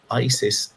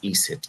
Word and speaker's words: Iset: nobody likes to mention but Isis is isit I but the Greeks mispronounced the word and it became Isis but isit means the